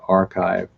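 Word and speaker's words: arXiv: the first adopters of the archive which is spelt ar ar capital X IV it was developed out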